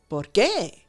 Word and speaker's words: por qué: The main difference is that, I guess you have to read this, but one has the emphasis on the second syllable, por qué.